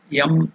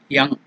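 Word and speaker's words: यं: The Vayu Bija mantra is Yam or Yang.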